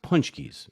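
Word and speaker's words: Pączki: In Chicago, they're pronounced punchkis.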